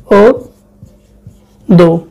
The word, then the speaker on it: অদ্য: যেমন দেখো অদ্য, এর উচ্চারণ কি হবে? ও দো।